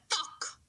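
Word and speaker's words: 떡: Tuck. Can you pronounce tuck, tuck, tuck?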